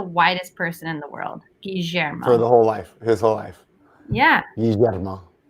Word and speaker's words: Guillermo: It's pronounced Guillermo. We were going to name Milo that. Guillermo. Trust me, that was a long fight. Hey guys, you're all saying it wrong. It's Guillermo. I said Guillermo.